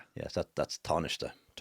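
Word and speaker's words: Tánaiste: Yes, that that's tarnish.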